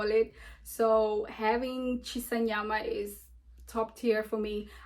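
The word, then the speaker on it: shisa nyama: How can I not pronounce that word? Chisanyama.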